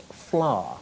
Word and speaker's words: Fleur: Scott's Fleur was and it's pronounced flower all right flower it's